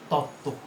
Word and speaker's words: তত্ত্ব: যেমন একইভাবে ত তয় তয়, উচ্চারণটা কি? তত্ত্ব। তাহলে এখানেও একই ব্যাপার, যে যেহেতু এটি যুক্ত বর্ণ, তয় তো এটি যুক্ত বর্ণ, এর সঙ্গে যুক্ত যে বফলাটি, সে বফলাটি অনুচ্চারিত থাকবে।